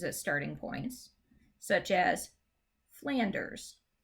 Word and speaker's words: Flanders: starting points such as flanders flanders not flanders so the stress is on that first syllable flanders and between and crosses